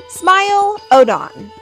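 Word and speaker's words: Smilodon: Smile Odon.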